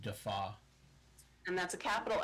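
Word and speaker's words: DeFauw: And last name is D-E-F-A-U-W, pronounced Defaw.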